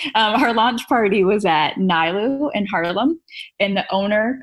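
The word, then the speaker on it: Nilu: It's called Nailu. Okay. How do you spell it?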